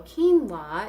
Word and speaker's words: quinoa: And also quinoa is also something that most people didn't know about back then. It's a Q-U-I-N-O-A, pronounced quinoa.